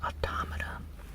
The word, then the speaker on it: Automata: here Otto mata or automata i believe it's pronounced auto mata but it was recently